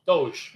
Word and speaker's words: DOGE: what's that called doge doge right is how you say it doge yeah so where